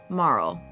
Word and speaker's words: Marle: into a young girl Marl yes it's pronounced Marl not Marley and her pendant somehow